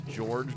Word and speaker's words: Gorg: so so now um like gay org or like gorg it's it's George but you spell it um I see and that's